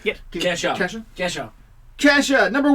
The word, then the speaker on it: Kesha: Kesha.